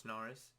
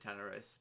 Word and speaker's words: Tanaris: I pronounce it Tanaris. Well, I did pronounce it Tanaris, but now I'm sort of leaning into pronouncing it as Tanaris, just because it sounds a bit more professional, I guess. In a sense, it sounds a bit more clean than Tanaris.